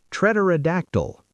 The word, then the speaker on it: pterodactyl: Treterodactyl. P T E R O D A C T Y L.